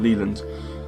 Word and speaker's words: Leland: I keep saying Leyland, but it's kind of Leland.